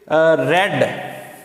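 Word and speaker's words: read: A good book is रेड, पढ़ेंगे रेड और लिखा हुआ स्पेलिंग रीड वाले ही होंगे, रेड बाय हिम।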